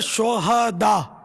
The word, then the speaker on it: شہداء: یہ صحیح تلفظ ہے شہداء, صحیح. ہاں پر زبر آئے گا. شہید کی جمع ہے شہداء. شہداء ہاں کو ساکن پڑھنا جو ہے نا یہ اس کے معنی بدل جاتے ہیں.